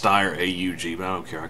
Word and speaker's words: Steyr AUG: it would be great and ya know it's pronounced steyr AUG bound care i called holligan sounds cooler least